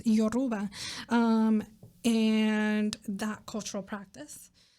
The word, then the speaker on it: Yoruba: stem from like your yoruba um i pronounced that bad before i mispronounced that yoruba and that cultural practice